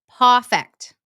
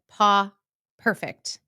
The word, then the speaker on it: Pawfect: And then also, podcasting at its finest, I pronounced his business name wrong, even though I was looking at it. It's Paw Fect. Paw Fect. I think I said Paw Perfect in the interview, but it's PAWFECT.